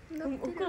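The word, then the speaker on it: 黒子: がとう、黒に子供の方でほくろって読むん、え、ほ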